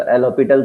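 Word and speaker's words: L'Hôpital: तो एल हॉपिटल से दोनों से काम चल रहा है, ये हॉस्पिटल ही होता है, वैसे हॉपिटल बोलते हैं, साइलेंट होता है, राइट।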